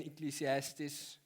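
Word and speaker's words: Ecclesiastes: there and ecclesiastis uh if you afrikaans you might say ecliastas. It took me a while to pronounce it um to get to get there. So it's ecclesiastis and we g to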